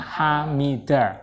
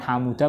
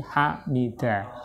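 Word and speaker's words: حَمِدَ: Kemudian hamida ini misalnya nggak ada harokatnya, maka nanti hamida ini, hamida itu dibaca mengikuti wazn fa'ila, sehingga membacanya hamida, bukan hamuda, bukan hamada, tapi hamida. Hasuna itu mengikuti wazn fa'ula, dan seterusnya.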